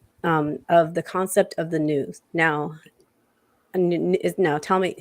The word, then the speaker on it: nous: Before we get into that, I wanted to talk about a little bit of the concept of the news. Now tell me how to say it. Noose or new?